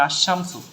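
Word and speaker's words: الشمس: হরফটা থাকবে সেটা পড়ার জন্য ঠিক আছে মানে আশামসু এখানে লাম উচ্চারণ হয় না ঠিক আছে লামটা আছে মারেফাত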